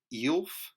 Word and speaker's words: Aelf: in that sense you'll be more like an elf but as I said there are so many exceptions to that that eel is actually a decent way to do it